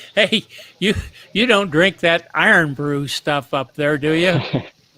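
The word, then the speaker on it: Irn-Bru: It's spelled IRNBRU, I think, something like that. Iron brew.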